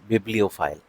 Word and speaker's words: bibliophile: इसकी स्पेलिंग देख लीजिए, BIBLIOPHILE, बिब्लियोफाइल। ठीक, तो कोई भी व्यक्ति ऐसा जो बहुत ज़्यादा पुस्तक के लिए दीवाना हो उसको बिब्लियोफाइल बोलेंगे, और किताबों के लिए जो पागलपन है इसको बोलेंगे बिब्लियोमेनिया।